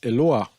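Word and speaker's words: אלוה: All right, if you look at this word here, this is a commonly used word in modern Hebrew, which they pronounce as Eloah.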